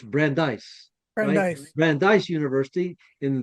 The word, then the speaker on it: Brandeis: Brandise is actually spelled B R A N D I S. So I thought, is it Brandis? Of course not. It's Brandeise.